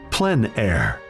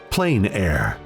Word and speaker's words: plein air: which means open air or outdoors the french pronounce it plen air others say plain air no matter how you say it there is